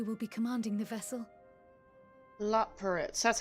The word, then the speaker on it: Loporrits: Loporrits, that's how you say it.